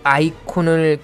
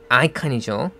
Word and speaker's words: icon: 때 그 아이콘이 영어로는 아이칸이죠. 발음은 아이콘 안 하고 아이칸 이렇게 하죠. 아이에다 스트레스를 주고 콘 할 때는 콘이라고 하는 게 아니라 칸으로 하면 되는 거죠. 아이칸 이렇게 말이죠.